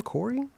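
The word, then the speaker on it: Khoury: Corey how do you say your last name Corey yes k-h-o-u-r-y like I heard this about this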